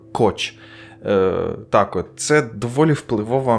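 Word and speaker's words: Koch: тут треба пояснити що кохи хоча фамілія вимовляється як коч так от Це доволі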